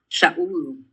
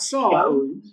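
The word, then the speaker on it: שָׁאוּל: It's not Saul. It's Shaul. That is the name Saul. It's the same name, but the way it's pronounced in Hebrew is not Saul, it's pronounced Shaul. Shaul. Shaul. Shaul. That's the pronunciation in the Hebrew.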